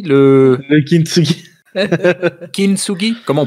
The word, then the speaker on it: kintsugi: Le kitsungi? Le kintsugi. Kintsugi? Comment on prononce? Ouais. Kintsugi. Attends, je te l'écris. Kin comme Anakin. Ah, Tsuki comme Tuki, mais quand t'es bourré.